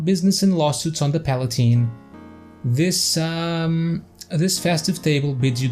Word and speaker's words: Palatine: So Palatine and not Palatine, so it rhymes with wine.